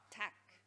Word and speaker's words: tak: Is it a little ah instead of ah? Ah. Tak. Tak.